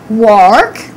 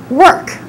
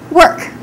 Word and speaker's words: work: Don't say work. We don't say I go to work. We say I go to work. Just like this, work.